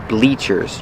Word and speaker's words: bleachers: That's right, bleachers, using a long E sound like green beans.